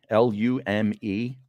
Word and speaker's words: Lume: seen it on Instagram it's called lume l-u-m-e I think you pronounce it lume and it's not Yorkie